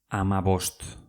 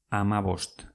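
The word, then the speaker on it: hamabost: Amabost. Amabost. H-A-M-A-B-O-S-T.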